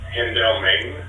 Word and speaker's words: Hendelman: Well, firstly, you're mispronouncing Saar's last name. It's Hendelman.